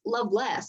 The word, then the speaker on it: Lovelace: poet richard lovelace and i was pronouncing it lovelace in my head but then i got to class and her teacher said by the way it's loveless and it means laced by love but you say it like